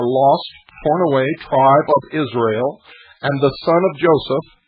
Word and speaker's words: Israel: it is significant that they separate the name Israel into three syllables Israel with dashes it stands for Isis ra who is represented as Osiris and l l means god the hitherto rejected reverse